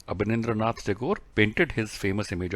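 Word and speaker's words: Abanindranath: And students, answer for this is Abhinandranath Tagore. मेरे को pronounce करने में दिक्कत हो रही है। ये है अबनिंद्रनाथ टैगोर।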